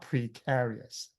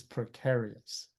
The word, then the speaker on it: precarious: The e is not pre, it's not precarious. It's precarious. Precarious. So that e becomes a schwah as well.